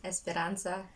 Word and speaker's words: Esperanza: i'm having esperanza okay can you just can you pronounce it yourself esperanza okay esperanza some would be like esperanza whatsoever depending on you know where you are from okay guys so today